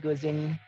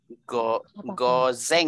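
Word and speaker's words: 午前: Dili wa ima juichi goseng. Juichi jides. Bisa, nggak apa-apa, juichi jides. Atau kalau mau komplit, tambahin AM. Goseng. Gozeng ya bacanya.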